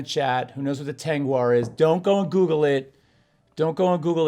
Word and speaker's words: Tengwar: into it and say it's spelled t-e-n-g-w-a-r and tanguar was a language that was